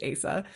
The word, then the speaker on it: Asa: And look, that is a name that on the page, who knows how to pronounce it? Her name is really a choose your own adventure, but in my head, it's Asa.